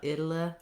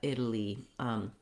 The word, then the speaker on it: Italy: So watch out that you don't become lax at the end of this word, not Italy or Italy, but Italy, with first syllable stress.